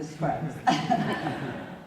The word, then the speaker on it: Scruggs: He said it rhymes with bugs, so Scruggs.